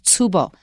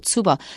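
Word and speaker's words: 坪: word ping comes from Japanese and the Japanese pronunciation of ping is tubo TS u b o tubo so if you want to avoid Chinese you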